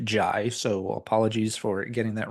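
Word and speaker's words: Jih: I have mispronounced his name in the past as G, but it's J-I-H, but pronounced Jai, so apologies for getting that wrong in the past.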